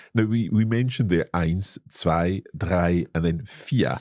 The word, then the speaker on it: ein: Or when we count, we have eins.